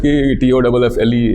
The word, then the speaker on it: Toffle: So I said T-O-F-F-L-E is way better. So it just started, and it clicked because it also rhymes with Google, Oracle, Apple.